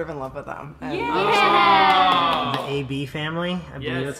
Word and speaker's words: Eh Bee Family: but I sort of in love with them a bee family yeah that's how you pronounce it I always go back to this